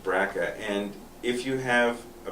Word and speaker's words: BRCA: gene a gene test called a bracket test b brca which is pronounced braca and if you have